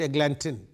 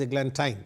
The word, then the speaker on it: eglantine: In the beginning, when I read, I said eglantine, but now I am reading it as eglantine. I tell you the reason. White hawthorn and the pastoral eglantine.